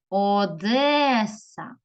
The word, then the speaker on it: Одеса: зустрічається Одеса кличемо слово Одеса Одеса випаде наголос на другий склад молодці дивимося слово назви